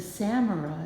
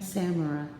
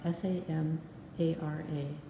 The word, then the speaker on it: samara: maple but it's a samurai isn't it samurai's the name of the seed pod oh okay i didn't catch that word camera okay samara s-a-m-a-r-a yeah some people pronounce it samara yeah um and uh